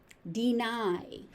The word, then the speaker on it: deny: Deny, deny. So that final Y is pronounced.